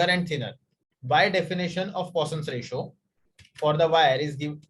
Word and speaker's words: Poisson's ratio: whatever you want okay it's not poison it is poisson's ratio denoted by sigma and